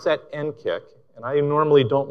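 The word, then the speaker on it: NCCIC: cyber security and Communications integration center now we pronounce that n KCK and I normally don't like acronyms and you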